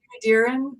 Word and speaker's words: Dearen: to hate them so um i hope i pronounced your last name right but do you want to introduce yourself that's right darren um i'm uh i'm not a full-time author